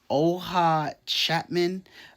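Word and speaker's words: Oona Chaplin: Her name is pronounced Oha Chapman.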